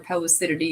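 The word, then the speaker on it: Pellucidity: But yeah, so Pelucity is this, or Pelucidity, if you want to pronounce it correctly according to Webster's dictionary, because I like refuse to do it.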